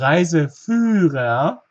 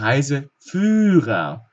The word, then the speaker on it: Reiseführer: Achtung, ein H verlängert uns das Ü in diesem Fall, zum Beispiel der Reiseführer.